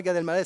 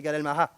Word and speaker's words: Gad Elmaleh: Parce que nous, Massika, qui est une des adjointes sur l'étage, qui vient d'Algérie, m'a dit non, c'est pas Gad Elmaleh, c'est Gad Elmaleh.